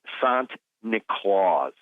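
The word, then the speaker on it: Sint Nicolaas: Now, the Dutch pronunciation of St. Nicholas is Sant Nicolaas, or Sinterklaas, Sant Nicolaas.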